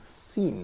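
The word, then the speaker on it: سين: And as it says here in the slides, Seen pronounced like seen, the word seen in English.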